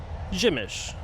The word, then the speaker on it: Przemyśl: And by the way, the name of this town, Przemyśl, is only something that I'm able to pronounce after probably about 50 corrections. P-R-Z-E-M-Y-S with a little dot over it, L. If you're an English speaker, the chances of you thinking that the pronunciation would be Przemyśl are probably 0%.